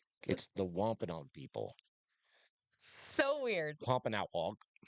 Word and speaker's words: Wampanoag: Wampanoag. It's not Wampanoag. It's Wampanoag. That was hilarious. But not like that. Wampanoag. It's because it's like AU.